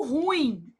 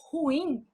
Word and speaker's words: ruim: Por exemplo, quando você fala assim: "Ah, ela é muito ruim". Isso é um erro de prosódia. Você está pronunciando a palavra como paroxítona. E na verdade ela é uma oxítona.